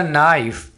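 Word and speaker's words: knife: That is अ नाइफ। अब यहाँ पर आपने के को साइलेंट रखना है, इसको कनाइफ नहीं बोलना।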